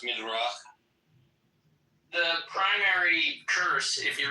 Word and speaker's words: Midrash: It's in the Midrash. It's in the Midrash, okay. But like, what's up with like black people being cursed? It's actually pronounced Midrach.